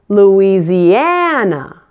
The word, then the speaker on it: Louisiana: one Kentucky Kentucky Louisiana like Indiana this one also stresses the syllable and Louisiana Louisiana make sure you get all five syllables so which of these